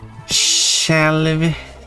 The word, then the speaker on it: själv: Själv. You don't pronounce the J and the yacht in that.